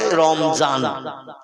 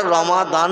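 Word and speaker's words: رمضان: মত অবলম্বী বা অন্য মতদর্শের মানুষ ওরা দোয়াত উচ্চারণটা ঠিক মতো করে না। ওরা দোয়াতকে, যেমন রমজান আরবি ভাষায় লেখা, ওরা বলে রমজান, বলে না?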